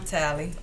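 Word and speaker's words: Tali: And Hi, I'm Tally, and that's spelled T-A-L-I.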